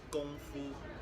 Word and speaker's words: 功夫: 功夫 What tones is that? first.